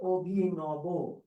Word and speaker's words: অভিনব: অভিনব শব্দের উচ্চারণ হলো অভিনব, অভিনব, এটা।